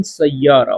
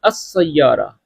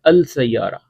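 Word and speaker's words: السيارة: अच्छा, गाड़ी कहाँ है, वेन सैयारा, वेन अस सैयारा, अलिफ लाम भी प्रोनाउंस किया करें वेन सैयारा की जगह, वेन अस सैयारा या अल सैयारा।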